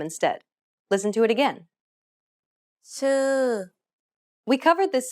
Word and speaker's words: ชื่อ: ชื่อ Did you pronounce the vowels correctly? One of the vowel sounds doesn't exist in English. It's the unrounded U.